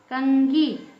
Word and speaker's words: कंघी: वर्ण क्या है अंगा इसमें अंगा का उच्चार निकल रहा कंगी कंघी है ना कंघा ऐसा अंगा निकल रहा है अब म का